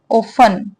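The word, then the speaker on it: often: कैसे बोलते हैं इसे हम ऑन इसमें टी साइलेंट होता है ठीक है ऑफ बोला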